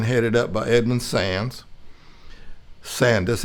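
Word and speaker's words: Sandys: up by edmund sands sandus s-a-n-d-y-s apparently they didn't say that why if he said sand you know the british pronounce things a little different you know two countries divided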